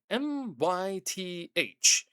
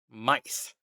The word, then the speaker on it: My-th: More so said as Mice. But it's spelled m y t h. Granted, there's a hyphen in between the y and the t, but not Myth, Mice.